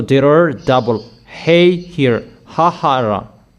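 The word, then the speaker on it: ההרה: Vayenu, vayalu, hahara. So there are double hey here, hahara. H-A-H-A-R-A-H, and they write it as hey, hey, hey. It's like that how they pronounced it.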